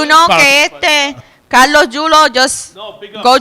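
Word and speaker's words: Yulo: Julo or Chulo? Julo. It's spelled Y-U-L-O.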